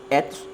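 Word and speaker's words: ἔθος: enfim, nosso idioma, é etos com e curto, que significa costumes, que significa hábitos.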